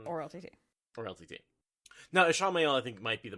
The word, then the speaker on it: Ishamael: they just call him Ishamael? Like, we know that he's going to be in it, right? Like, maybe they're just trying to preempt everyone who's going to mispronounce it as Ishmael.